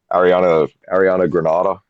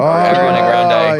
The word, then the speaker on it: Ariana Grande: open for someone like, I'm going to mispronounce her name because I think it's funny, Ariana Granada. Oh, Ariana Grande. Grenade or- yeah. Ariana Grande, yeah.